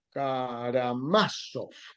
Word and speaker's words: Karamazov: Más, más bien dicho, Karamazov se pronunciaría en ruso.